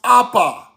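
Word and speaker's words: אבא: Aba is pronounced apa. Apa father.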